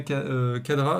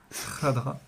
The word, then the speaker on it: Khadra: même nom de Yasmina Khadra. Alors je le prononce, Khadra, oui. ouais, je le prononce mal, j'arrive pas à faire c'est pas facile à faire le kha. Khadra.